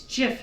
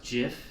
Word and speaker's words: GIF: It's GIF, not Jif.